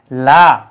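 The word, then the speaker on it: لا: আলিফ অর্থ হচ্ছে না এটা এক আলিফ টেনে পড়তে হয় এটা হচ্ছে লা জন্য আর লা এই জায়গায় আমাদের টান দিতে হবে এক আলিফ টেনে পড়তে হবে লা অর্থাৎ হচ্ছে না না বোধক করার জন্য কিন্তু যদি কেউ টান না দেয় তাহলে কিন্তু অর্থ বিপরীত হয়ে যাবে কিছু কিছু ক্ষেত্রে শিরক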